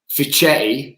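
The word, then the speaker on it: Fischetti: end speaks for itself was fichetti is how you say it for shetty when the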